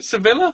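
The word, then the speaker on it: Sevilla: Is it Seilla? Is that how you pronounce it?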